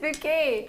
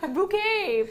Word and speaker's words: Bucket: was high bucket but she pronounced it bouet bouquet everyone else was like it's bucket she was just really